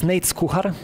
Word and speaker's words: Nejc Kuhar: player and composers as well, chamber music composer Nejc Kuhar. Yes. Yes, you pronounce it very well. You can pronounce it even better. It's Nejc Kuhar. But nobody can really pronounce it.